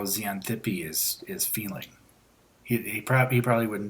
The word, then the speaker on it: Xanthippe: I have absolutely no Xanthippe, or I don't remember how to say it. Yeah, Xanthippe.